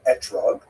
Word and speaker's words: etrog: We all know that the correct fruit to bring is an etrog, or an esrog in the Ashkenazi pronunciation, but it doesn't say so in the written Torah.